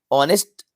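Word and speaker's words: honest: friend is ऑनेस्ट person ऑनेस्ट आका sound दे रहा है वाउल साउंड दे रहा है बिकॉज यहां पर एच साइलेंट है एन राइट आंसर होगा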